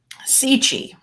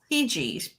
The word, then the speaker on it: Cixi: You are bringing in Empress Dowager Cixi. I looked up how to say it properly. Thank you. Here's a woman with a lot of power. Empress Dowager Cixi, born in 1835.